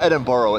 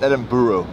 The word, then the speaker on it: Edinburgh: starting in Dublin edible we're saying it wrong apparently it's not Edinboro it's Edinburgh Edinburgh in the comment section